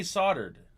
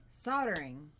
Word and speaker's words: solder: the O is O the O is a o not an A S so it's not soldering it's soldering soldering soldering oh my God